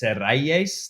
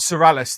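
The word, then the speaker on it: Serrallés: Well, it's Serrayes. That's how you say it. Distilleria Serrayes, which is Don Q. But the most popular rum on the island is not Sorales then. Not Sorales. Well, you could say Sorales because, it's again, everybody pronounces things in their own way. There's no right, no wrong.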